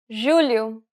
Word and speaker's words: julho: The letters J and G can sometimes be pronounced like J. It sounds like the S in pleasure.